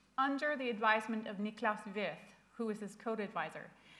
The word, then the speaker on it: Wirth: This weekend I met with Griesemer and I made the American mistake of pronouncing Wirth's name as Worth. And he said, oh, well, Americans pronounce his name by value and Europeans pronounce his name by reference.